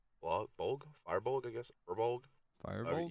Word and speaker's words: Firbolg: I will be Charles Grodin, the Firebold, Firebold, I guess, Firbold. Firebold? Yeah, Firbold, I think is how you say it.